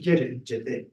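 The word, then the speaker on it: jeter: Jets is a English name that comes from the French jetty, I think it's pronounced jetty.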